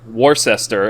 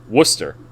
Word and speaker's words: Worcester: what i'm saying like it's spelled like warcester and we pronounce it worcester yeah worcester or worcestershire